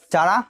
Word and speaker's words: Chara: ठीक है, और चारा, चारा को हम काड़ा पढ़ेंगे, इसको चारा भी पढ़ेंगे चलेगा, ठीक है, लेकिन CHARA